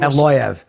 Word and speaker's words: Evloev: Like he was very, Movs, how do you pronounce his name? Evloev.